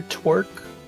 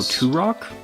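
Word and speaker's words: Turok: I believe that is Oh, Tur Rock. Tur Rock. Yeah, you're right. It's Tur Rock.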